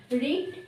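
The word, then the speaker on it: read: রিডের তিনটে ফর্ম হুম রিড রেড রেড রেড উচ্চারণটা রেড হবে বানানটা একই থাকবে হুম এটার একটা লিস্ট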